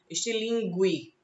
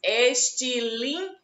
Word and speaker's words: estilingue: também não tem o som do outro anunciado istilingue não se diz assim fizemos estilingue g u e o som do fica óculo